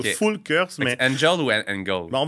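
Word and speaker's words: Engel & Völkers: je pense que si on était allemand, on dirait Engel and Volkers ou Fulkers.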